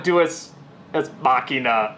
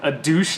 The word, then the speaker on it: deus ex machina: Okay, so it's sort of a deus ex machina a little bit, you know, because it's like